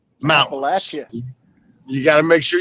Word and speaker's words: Appalachia: I'm one of your host JT joined by my man TA on the road somewhere in the Appalachian Mountains and up northern Appalachian Mountains producer with us tonight.